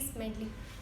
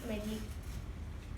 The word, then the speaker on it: Smedley: That is Ralph C. Smedley. You pronounced it as Ralph C. Medley.